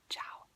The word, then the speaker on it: ciao: you say hi ciao so it's we're gonna spell it right here and then show it to you so it's like c i a o ciao now you try to say it ciao